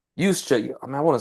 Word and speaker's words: Juszczyk: starts with a J, but you pronounce it with a Y.